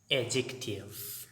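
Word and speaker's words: adjective: डी इसमें silent है, डी के साथ जब भी जे आ जाए तो डी साइलेंट होगा।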